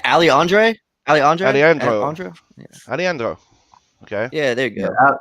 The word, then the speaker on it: Aleandro: Aleandro.